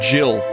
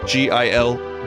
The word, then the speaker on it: Gil: tell you that i said jill when i was younger because my friend who got me into final fantasy vii pronounced it as jill gil jill think of it this